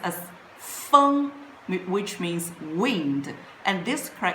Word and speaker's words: 风: It pronounced as 风, which means wind, and this character is a simplified character.